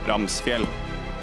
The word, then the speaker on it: Ramsfjell: Ramsfjell. That is how you pronounce it.